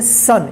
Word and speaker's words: son: यहाँ पे देखिए SON, इसको क्या पढ़ेंगे सन। यहाँ पे देखिए ओ का अ उच्चारण हुआ है, ठीक है।